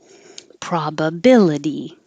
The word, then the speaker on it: probability: Probability. The T, the itty, sounds like uddy.